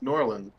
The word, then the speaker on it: New Orleans: New Orleans? Norland. That's how you pronounce it.